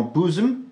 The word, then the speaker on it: bosom: Et il se prononcera ou dans Bosom, Wolf, Woman.